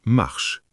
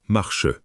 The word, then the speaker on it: marche: On dit marche, pas marche. Ça marche.